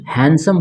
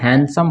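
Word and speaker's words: handsome: उसको हैंडसम नहीं बल्कि हैंडसम बोला जाता है इसमें दी साइलेंट हो जाता है दी क्या होता है साइलेंट होता है हैंडसम बोला जाता है हैंडसम दी नहीं बोला जाता है ठीक है ना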